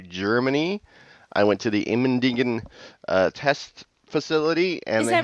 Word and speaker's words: Immendingen: How do you say Immendingen? Immendingen. Oh, that's funny. So now that I know how to say it, I don't know how to say it wrong. Okay. I will never say it wrong either.